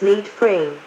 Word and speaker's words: lead frame: Traditionally, these wires have been composed of gold, leading to a lead frame, pronounced lead frame, of solder-plated copper.